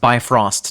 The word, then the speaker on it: Bifrost: It's pronounced Bifrost, Nick.